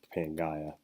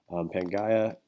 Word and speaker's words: Pangaea: large landmass called Pangaea or Pangaea depending if you're British you can ounce it paying Gaia but Penn Gaia comes from the Greek pan which means all and Gaia or Ghia depending on you pronounce it that means land so